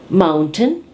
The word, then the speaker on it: mountain: Let's have the TN sound where we have the glottal stop.